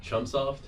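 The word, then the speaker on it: Chunsoft: universe it's by it's spike chum soft is that how you say it yes it's like trunks yeah i'm not i'm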